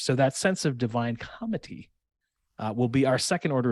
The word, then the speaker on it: comity: So second category is what we're calling divine comity. Now I'm pronouncing that with a soft T because it's comity with a T, as in getting along, as in playing well with others.